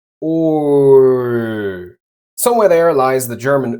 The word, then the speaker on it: Ö: Say the German letter O and keep your lips in the same position, rounded. Now, slowly lift your tongue towards the front of your mouth. Ö.